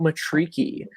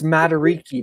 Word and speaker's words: Matariki: We are both LRG hosts, and welcome to Talking About Matariki.